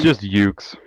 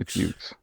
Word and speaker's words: Youxe: It's just Youxe. Just Youxe. It's Youxe. So the E is silent.